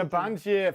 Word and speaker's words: Sabancı: And so, how do I pronounce it right? Sabancı University. Sabancı, thank you.